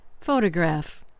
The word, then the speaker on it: photograph: Consider the word photograph. The stress is on the first syllable.